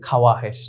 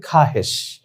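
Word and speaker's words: خواہش: মানুষের ইচ্ছা আকাঙ্ক্ষা চাহিদা খাহেশ বলে তো আমরা দেখি খে ওয়াও আলিফ হেশিন যদি আমরা স্বাভাবিক উচ্চারণ করি আমরা মনে হয় এরকম উচ্চারণ করব যে খাওয়া হেশ না এটা ভুল মূলত শব্দের উচ্চারণ হবে খাহেশ তারপর আমরা দেখি খোদ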